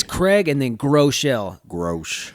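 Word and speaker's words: Groeschel: own name but so i just put like grow and shell together and that's how you pronounce it grow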